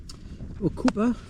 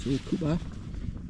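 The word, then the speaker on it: Ocoopa: I had to get these Okupa, that's how you pronounce it, Okupa hand warmers.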